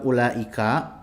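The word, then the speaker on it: أولئك: Seperti u di dalam ulaika, u dari ulaika, ya, u-nya itu ditulis tapi tidak diucapkan. Begitu juga dengan alif yang ada di anak, alifnya itu ditulis tapi tidak diucapkan.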